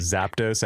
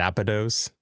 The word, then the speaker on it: Zapdos: I used to say uh I said it Zapdos. I used to say Zapados.